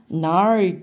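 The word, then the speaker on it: gnarled: G는 발음 안 합니다. Nar tree was still.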